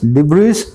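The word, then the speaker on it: debris: Ruins यहां भी आया ना, देखना इसके सिनोनिम्स, एशेस, डिब्रीज, डेट्रिटस और रैकेस। इसमें एस नहीं आता, इसको डिब्री बोलते हैं ना, पीछे वाला एस जो है साइलेंट होता है, डिब्री।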